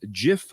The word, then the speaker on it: GIF: Wilhite always insisted the name be pronounced as GIF with a soft G.